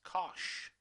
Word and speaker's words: cosh: as shine okay and hyperbolic cosine which are going to pronounce as cosh okay so just for the